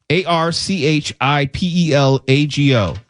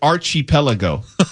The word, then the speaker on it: archipelago: A R C H I P E L A G O. Archipelago. You are correct. Some people say Archie Pelago.